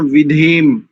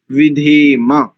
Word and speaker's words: विधेम: कई लोगों का यहां भी उच्चारण विधेम ऐसा आता है, कई तो विद्वानों का भी, पुरोहितों का भी आता है। ठीक कर लेंगे इसको, विधेम, म पूरा है और गंता सूत्र लग करके विधेम, दीर्घ हो जाएगा, अंतिम